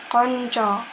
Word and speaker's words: kanca: Contohnya kanca, atau artinya itu dalam bahasa Indonesia adalah teman, tetapi untuk vokalnya adalah konco.